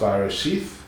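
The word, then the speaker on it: Bereshit: It's pronounced Barashith, but I couldn't get Barashith to be registered, so I had to anglicize a little bit and call it Barasith.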